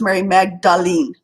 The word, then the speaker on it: Mary Magdalene: Okay, now Mary Magdalene is pronounced Mary Magdalene.